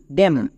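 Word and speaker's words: damn: এম এর পরে এন থাকলে এন সাইলেন্ট। চলে এবার উচ্চারণ করো।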